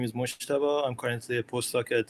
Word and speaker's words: Mojtaba: My name is Mojtaba.